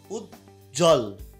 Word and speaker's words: উজ্জ্বল: আচ্ছা, তারপর হচ্ছে উচ্ছ্বাস, এখানেও কিন্তু ওই যে এখানে কি হচ্ছে না, এখানে কিন্তু বফলার উচ্চারণ হচ্ছে না। উজ্জ্বল, এখানেও কিন্তু বফলার উচ্চারণটা একদমই হলো না।